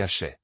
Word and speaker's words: aché: Les Polynésiens astérisqu mana astérisqu et les yoruba l'appellent astérisque aché astérisque prononcé acheté.